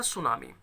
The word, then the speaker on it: tsunami: Right, T एस के combination में हमेशा टी साइलेंट होता है, जैसे मैंने लिखा सुनामी, TSUNAMI, तो सुनामी है, ये टी इसमें साइलेंट है, लिखा जाता है लेकिन साइलेंट होता है।